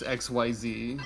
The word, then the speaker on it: Xyz: Okay, I've already forgotten how to pronounce XYZ.